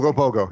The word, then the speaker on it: Ogopogo: Am I Yeah, pronouncing? Ogopogo.